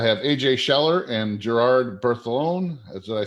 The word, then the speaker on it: Bertholon: I have AJ Schaller and Gerard Bertholon. Did I say it right? Yes, that sounds great. Bertholon.